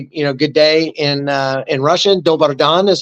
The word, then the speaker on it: dobar dan: Dobar dan is how you say it in Serbo-Croatian.